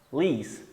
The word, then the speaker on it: police: Por exemplo, polícia é police, police, police.